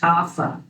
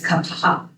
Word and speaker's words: kapha: You may have heard this pronounced "koffa", but it's kapha. When we see an H in this language of Sanskrit from which is Sanskrit, it's an aspirated sound.